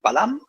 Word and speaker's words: Balam: On retrouve le Balam, puisque le dernier A ne se prononce pas, la voyelle finale ne se prononce pas dans les glyphes maya, ou quiché.